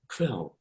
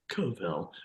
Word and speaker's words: kvel: It reminds me of a Yiddish word called kvel. So they take a K and a V and they run it together at the beginning. Kvel. It should be pronounced kovel, but it's kvel.